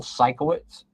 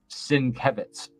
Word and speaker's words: Sienkiewicz: For years, I called Bill, this one artist, Bill Sikowitz, but it's Sienkiewicz.